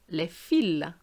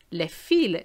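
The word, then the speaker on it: le fil: the s is morphis as opposed to lefill lefiel the s is not pronounced because it's a plural form but the l is and it means thread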